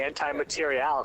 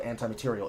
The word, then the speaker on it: anti-materiel: Why did you say anti-material? So weird. Because that's how it's spelled. It's not spelled anti-material. It's spelled anti-material. Oh, is it? Okay. Support weapon. Read and reap. Anti-M-A-T-R-I-E-L. Anti-material. I read it how I call it.